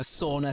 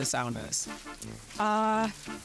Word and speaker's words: sauna: If you do not like saunas, yeet your phone away into the sea right now because this is about to become a sauna stan account. How often do you go to the saunas?